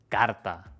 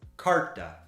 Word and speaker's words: carta: La última palabra y la más difícil: carta. No es carta ni carta. Esta r que va antes de una t es una de las más difíciles para los estudiantes. Es una r simple como en pero.